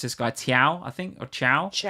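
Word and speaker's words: Thiaw: A couple of really good setpiece goals from I think you pronounce this guy Tiao, I think, or Ciao. Ciao.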